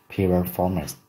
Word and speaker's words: piriformis: Còn tên của cái cơ này là piriformis, piriformis, trọng âm rơi vào for.